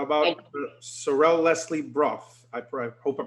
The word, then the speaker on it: Sorelle Leslie Braugh: How about Sorrel Leslie Brough? I hope I pronounced your name correctly.